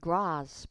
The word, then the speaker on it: grasp: 영국 호주식으로는 grasp 이렇게 아로 발음을 할 수도 있어요.